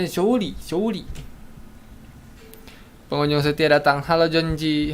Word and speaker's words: Zhongli: Zhongli bacanya Zhongli.